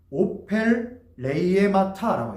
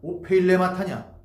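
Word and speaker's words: ὀφειλήματα: 하마르티가 아닌 오펠레이에마타라고 해요. 오펠레이에마타. 오펠레이에마타. 이 발음이 오펠레이에마타냐 오페일레마타냐 뭐 중요한 건 아니에요.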